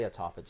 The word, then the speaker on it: autophagy: Question about, I've heard it pronounced 2 ways, autophagy or autophagy. How do you pronounce it? I say autophagy.